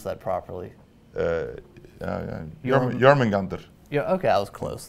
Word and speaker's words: Jormungandr: How do I pronounce that properly? Jormungandr.